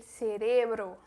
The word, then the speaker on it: cerebro: Ele Pink e ele Cerebro. Porque esse cérebro no espanhol é cerebro. Então muda essa sílaba forte e muda totalmente a pronúncia do E. Porque do E no espanhol só existe E fechado.